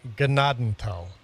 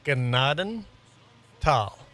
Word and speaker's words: Gnadenthal: And yes, it's pronounced gennadenal. Two separate words. Gennaden tal.